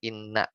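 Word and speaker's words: إنّ: Jadi wajib mengkasrohkan hamzah inna ya. Jadi bacanya inna.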